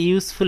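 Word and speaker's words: useful: দি ক্যাট ইজ এ ইউজফুল animal, এখানে উচ্চারণটা ইউ, এই কারণে এ বসানো হয়েছে।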